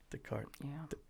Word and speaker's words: Descartes: n oh my god it's french they don't pronounce everything it is it is it is descartes the card he's a philosopher i